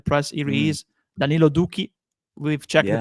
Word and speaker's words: Doekhi: He is Danilo Duki. We've checked the pronunciation by the way before going live.